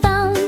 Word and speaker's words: thumb: At the end in lamb and thumb, the B is quiet, it goes numb.